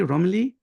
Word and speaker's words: Romilly: And I'm joined here by, do I pronounce it correctly, Romilly?